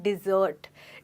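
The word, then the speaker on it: desert: फिर से सुनिए, इनकी प्रोनाउंसिएशन में काफ़ी फ़र्क है। एक है डिज़र्ट यानी कुछ मीठा खाने के बाद, और एक है डेजर्ट जो है रेगिस्तान। तो आपको केयरफुल रहना है और इन दोनों वर्ड्स की प्रोनाउंसिएशन को मिक्स नहीं करना है।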